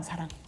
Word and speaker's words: 사랑: 근데 이제 사람을 발음할 때는 입술이 닫히고요. 사랑을 사람. 발음할 때는 입술이 열립니다.